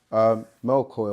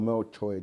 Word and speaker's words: Melchior: Then the third one, Melchior or Melchor, depending on how you pronounce it, which means a king of light.